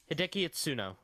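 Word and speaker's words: Hideaki Itsuno: Hideki Itsuno.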